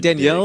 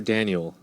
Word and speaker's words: Daniel: Did he's you say a Danielle dick. or Daniel? Daniel Padilla. Danielle. It's Daniel? Danielle. It's pronounced Danielle. Daniel. It is Daniel.